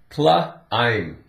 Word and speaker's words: climb: Climb. That's the word. The B is silent.